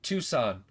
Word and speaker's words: Tucson: Tucson? Yeah, I was the time that I saw them come through, Tucson. Too soon? Look, you win. You win. You're right. Tucson.